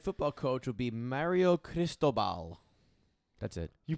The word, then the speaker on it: Cristobal: their new head football coach would be mario cristobal that's it you pronounced that one right i swear the heart